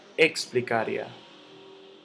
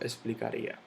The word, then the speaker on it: explicaría: se separa todo esto yo no digo explicar ya explicar ya explicar ya yo digo explicaría luego teología t lo